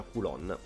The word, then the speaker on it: Kowloon: pop ho scoperto che si chiama si pronuncia kulon è una storia fantastica